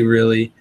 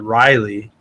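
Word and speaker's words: Rili: I say really. I know LR Brett's Aquatics pronounced it Riley. And so I'm sure there's a lot of different ways to pronounce it.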